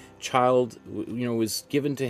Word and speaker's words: Childe: um his middle name child and that's the way it's pronounced not chill day or anything like that child you know was given